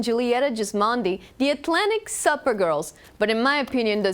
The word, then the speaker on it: SUPergirls: girls yeah the website the Instagram Facebook Atlantic supper girls OSU PE are its girl bailed super girls but it's pronounced supper gross yeah